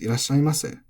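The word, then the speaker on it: いらっしゃいませ: But when this was still used, the rule was the mas has the same accent, high-low, and because se does not get deleted, it becomes irashaimase.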